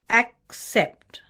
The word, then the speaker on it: accept: she worked very hard a quick trick is to put the stress in the first part of the word and then say the second part accept accept expect this will make your pronunciation correct and associate the correct